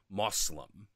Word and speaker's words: Muslim: she actually pronounces it moslim you know like with the o sound as opposed to the uh sound um so you know